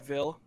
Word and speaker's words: VIL: We just say, if you're like saying like our abbreviations, Yeah. we call it VIL.